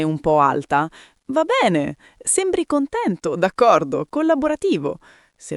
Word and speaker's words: va bene: Va bene. Pronuncia semplice, va bene con la e aperta in tutte e due le parole. Va bene, non v. La B è marcata, la na singola veloce.